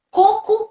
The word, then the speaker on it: coco: outro exemplo filha olha pensa côco e cocô olha aqui como é diferente a sílaba tônica coco é a fruta e cocô não é